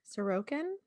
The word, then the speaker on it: Sorokin: how do you say the last name again sorokin sorokin okay sorry was a truck driver and